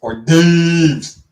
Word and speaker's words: hors d'oeuvres: Well, I mean, in that case, it's because it's French. Hors d'oeuvres, like that it's like hors d'oeuvres, but it looks like horse. It does look like horse divorce, but because it's French, it's pronounced hors d'oeuvres.